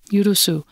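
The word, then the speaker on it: 許す: and devout lay Elders the Japanese word yusu am I pronouncing that correctly yeah yusu recurred in their Council for the English speaker it's Yu r u Su U yusu it's a verb commonly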